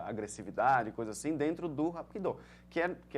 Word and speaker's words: Hapkido: com os mesmos ideogramas, só que a pronúncia no coreano, que Hapkido é de origem coreana, é Hapkido e no Aikido é o Aikido.